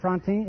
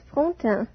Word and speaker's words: Frontin: Miss Josette Frontin, is that right? Am I pronouncing your name correctly? Not very correctly. It is Frontin.